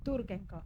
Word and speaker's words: Turkenkopf: decime cómo se pronuncia bien tu apellido. Turkenkov.